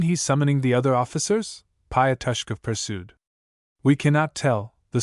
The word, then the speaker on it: Pyoskov: Pyoskov pursued. We cannot tell, the soldier cried a second time in just the same voice. All right, you can go. pronounced Payoskov.